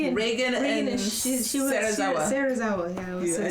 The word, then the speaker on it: Serizawa: Serizawa.